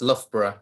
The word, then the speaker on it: Loughborough: Except it's pronounced Loughborough.